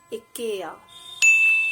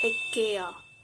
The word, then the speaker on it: Ikea: It's Ikea. Ikea. Indians often called it as Ikea, although Ikea is not a perfect pronunciation, but it will also do. But its correct pronunciation is Ikea.